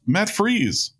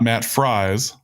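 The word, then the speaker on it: Freese: podcast, I know that it is pronounced Matt Freeze, as in freeze, and not Matt Fries, like Viking starting guard Will Fries.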